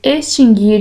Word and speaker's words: extinguir: As palavras distinguir, extinguir e adquirir não têm o U pronunciado.